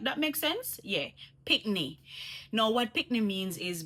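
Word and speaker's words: pickney: It's like you're saying picnic, but you're taking off the C off of the end, and you say pikney. You know what I mean? Like that makes sense? Yeah, pikney.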